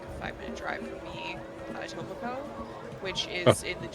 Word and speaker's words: Etobicoke: 5-minute drive from me, Etobicoke, which is in the GTA. yes. And this guy doing the documentary pronounced it a Tippecanoe or something like that, or something stupid like that.